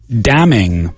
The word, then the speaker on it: damning: And the adjective, damning. Now, damning is an interesting adjective. It means incriminatorio, really. Damning evidence, damning results, damning, a damning find, damning, incriminatorio. And again, the N is silent.